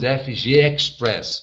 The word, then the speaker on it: FGXpress: press Brasil tá e nós pronunciamos FG Express Ok Brasil mas escreve fgxpress Brasil no Facebook en vi sua dúvida